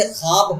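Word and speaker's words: خواب: जैसे ख्वाब हो गया, खार हो गया, ये सब में वाव लिखा तो जाता है लेकिन पढ़ा नहीं जाता, इसलिए वाव मादूदा है।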